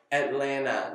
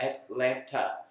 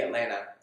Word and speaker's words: Atlanta: And then the last piece, fun fact, is that it is pronounced, as you may have heard in this video, Atlanta, not Atlanta. So if you want to sound like a local, say Atlanta.